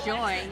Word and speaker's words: Joie: And this is is it Joy? Joy. Joy. It's spelled J O I E, but it's pronounced Joy.